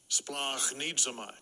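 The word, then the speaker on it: σπλαγχνίζομαι: Strong's G 4697, splachnidzamai.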